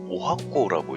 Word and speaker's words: 十八番: 이 18번이라고 써놓고 일본에서는 이 18번이라는 글자를 오하코라고 읽고 있습니다.